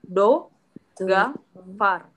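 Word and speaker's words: договор: Sesuai rules di bahasa Rusia, kita nggak bisa bilang atau mengucapkan lebih dari 1 O. Kalau stresnya di sini, berarti bacanya do, ga, far. D, D, O, G, ini kan G, A, V, A, R. Kenapa jadi A? Karena O yang di sini nih, 2 ini, dia nggak kena penekanan.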